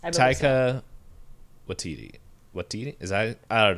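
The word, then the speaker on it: Taika Waititi: What we do in the shadows for uh Taquito Watiti. I I know I said his name wrong, but I'm just looking. Ta. Is that it? Yes. Taika Watiti.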